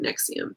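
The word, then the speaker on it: NXIVM: the next cm case which is not spelled the way it sounds it's all capital letters it's Roman numerals it's nxb I am but they pronounce it nexium which was supposed to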